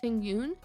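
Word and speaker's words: Tingyun: I believe her name is pronounced Ting Yoon, and she is a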